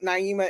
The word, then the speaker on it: Naima: still get it wrong that is a long long eye you see the little H in the long eye with my name people like you know